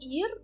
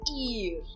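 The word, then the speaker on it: ihr: tradução diferenciada né então o ir ele é um pronome e eu só menciono ir eu não estou eh pronunciando o h aqui nessa palavra nesse pronome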